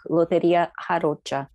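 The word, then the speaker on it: lotería: and in 2013 he published his first book loteria am i saying that right alec you no i like your your pronunciation the brazilian this is the lottery with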